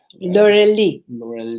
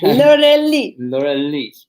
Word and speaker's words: Laurelie: L'Oreal, Laurelie. She taught me how to pronounce it properly. Okay. Laurelie.